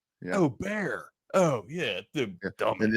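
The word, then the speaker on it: Bexar: And man, you're I was saying Becksar Beexar County.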